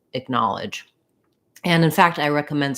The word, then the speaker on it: acknowledge: vowel is clear and then i just start with a little reduced vowel acknowledge acknowledge you can think of this as just like a little stepping stone then you can see